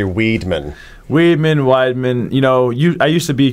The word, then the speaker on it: Weidman: like pissed off when people call me Weidman and try to correct them. No. Then I found out recently that my name actually it's supposed to be pronounced Weidman. Because they changed the name a bunch of times, and originally it was like W-I-E-D and 2 N's at the end, and then they changed